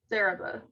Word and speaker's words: Saraba: Saraba. Okay. Saraba. There's a slight A after the A, B.